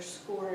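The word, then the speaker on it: Scoir: grade and then just a note score it is spelled differently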